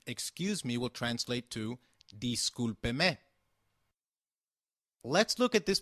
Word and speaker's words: discúlpeme: However, for seeking someone's attention, excuse me will translate to discúlpeme. Let's look at this pronunciation again. Discúlpeme is pronounced as di-scul-pe-me, with the sound of pe like in pet and me like in met.